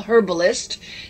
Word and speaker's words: herbalist: since she's a medical herbalist notice i pronounce the h on that one but anyway we do